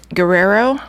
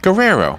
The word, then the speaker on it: Guerrero: World Roberto Guerrero yes Guerrero is a hard name for me how do you pronounce that name Guerrero Guerrero it's easy for you yeah but see I don't roll the RS and stuff like to